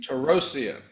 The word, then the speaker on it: Torossian: That's how I pronounce her name." Terrosia.